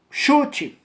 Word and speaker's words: chute: Chute. Chute. Do verbo chutar. Chute é com C-H-U-T-E. Ou seja, 5 letras. Ao você pronunciar, é como se fosse com X.